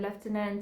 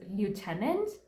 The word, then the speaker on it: lieutenant: up saying the word leftenant and hearing the word leftenant because is that is the pronunciation but ever since I found out that the Americans pronounce it as Lieutenant oh God I love